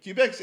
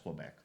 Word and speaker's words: Quebec: Like Quebec's in Canada, right? Like I don't know why. Make sure it's pronounced Quebec. Oh. Not Quebec.